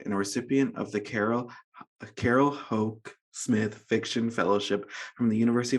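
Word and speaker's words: Carol Houck Smith: Iowa Writer Workshop and a recipient of the Carol Ho Smith Fiction Fellowship from the University of Wisconsin.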